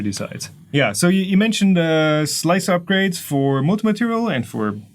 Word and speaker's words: Slic3r: We call it Slicer, but it's Slic3r Prusa Edition.